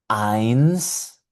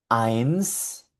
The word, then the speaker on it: eins: Eins, mein, drei.